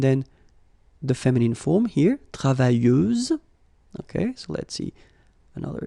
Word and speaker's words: travailleuse: Feminine form, travailleuse, same rule and same phonetical thing. You don't pronounce the final S, so you get travailleuse.